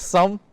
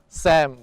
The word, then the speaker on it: Sum: Yeah, I want to make sure my name is pronounced properly. My name is Sum, which is S-U-M. It's basically an English word. But people always call me like Sum or Sam, but I'm not really